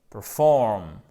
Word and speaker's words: perform: Et là, accent tonique, c'est un peu la roulette russe. On ne sait pas si c'est sur la première, sur la seconde. Et ici, c'est bien perform. OK? Perform et non pas perform.